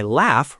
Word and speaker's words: laugh: In some dialects, the scratchy sound drifted forward in the mouth and became the f sound, which is why laugh rhymes with giraffe.